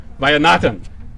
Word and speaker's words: Vaidyanathan: We also have Cupertino Council Member Ron Sinks, former Cupertino Mayor Savita Vaidyanathan. Did I say it right? Close. Vaidyanathan.